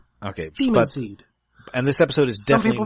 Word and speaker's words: Daemonseed: If we're going by the standard, A before E it's just a long E. Like demon, it's still demon. Okay. Daemonseed.